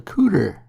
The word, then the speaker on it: couter: Now the small bit that protects your elbow is called a couder.